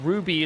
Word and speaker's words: RWBY: RWBY, pronounced Ruby, is an older anime